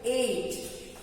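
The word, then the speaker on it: ate: तो ईट का हो जाएगा एट. मैथ्स में बोलते हैं ना 7, 8, वही वाला 8. प्रोनाउंसिएशन है उसका 8.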